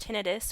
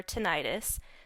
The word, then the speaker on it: tinnitus: triggers and masking tools idus pronounced tenidis or tenius takes many different forms